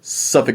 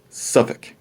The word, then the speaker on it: Suffolk: up but when you're talking about norfolk and suffolk you get to cuss so norfolk virginia suffolk virginia you always tell someone who wasn't from the area but going norfolk norfolk suffolk pokosin i think that's